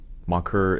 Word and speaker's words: Maker: So Mocker is the Sudanese pronunciation, and we just bastardized it and said Maker.